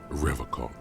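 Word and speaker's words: Revachol: logs at his feet he pronounces rivercon with a hard k unlike other people is this your mug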